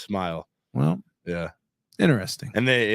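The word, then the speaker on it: Smael: spelling really yeah s m a l just pronounced smile well yeah interesting and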